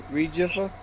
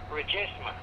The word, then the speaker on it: Regisma: Gene Regifa? How do you pronounce it? R-E-G-I-F-A. It's R-E-G-I-F-M-A. M-A. Oh, M-A. And how do you pronounce it? It's Regisma.